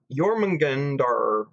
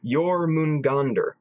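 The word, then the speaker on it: Jörmungandr: He did the pronunciation thing. Jormungandr. Jormungandr.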